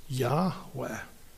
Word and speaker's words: Yahweh: But my name is I am which in Hebrew when the first person speaker is speaking is when you refer to that person, the pronunciation is Yahweh.